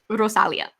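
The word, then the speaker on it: Rosalía: Her name is Rosalia, so you can check her out. I'm looking. Prepare for weirdness. Rosalia, everybody. Rosalia. You have to roll the Rosalia. R. It has an accent on the I.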